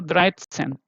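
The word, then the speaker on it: dreizehn: This first letter, the unit place is coming here, okay, dry, and then the second one, sen. If you already see here, 10 is sen, yeah. So first unit place, and then the 10th place, so Dreitzen, okay.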